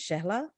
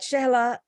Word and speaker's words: Shehla: My first name is Shehla and my last name is is easier because it rhymes with daisy or crazy or lazy, whichever you want to put it. But Shehla. Shehla.